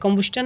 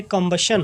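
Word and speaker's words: combustion: कंबुस्टन नहीं होगा, ये कंबशन हो, इससे क्या पढ़ेंगे? कंबशन।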